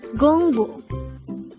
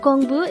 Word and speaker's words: 공부: This is pronounced as a two-syllable word. The first syllable is gong, the second syllable is bu. Pronounce it with me. Gongbu. Gongbu. The word Gongbu is simply the Korean noun for study or studies.